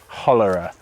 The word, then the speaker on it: hollerer: Well, I am on this one very distantly, as a backing singer and a kind of hollerer to rhyme with cholera of this choral line,